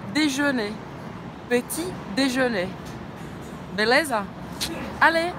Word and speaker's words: déjeuner: Déjeuner. D, simples. D, je, também com biquinho francês, lembra? Boca do O fala E. Déjeuner. Não pronuncia o R no final. Vamos lá, vamos junto? Petit déjeuner.